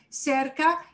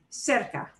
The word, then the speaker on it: cerca: With a word that ends in a vowel or N or S, we stress the second to last syllable. Here is the second to last syllable, and here's the way I pronounce the word.